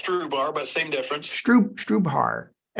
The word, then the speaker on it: Strubhar: Am I pronouncing that correctly? Yep, we say it's Strubhar, but same difference. Strubhar, Strubhar. So it's Strubhar.